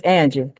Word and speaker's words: Anjie: Yeah, it's Angie.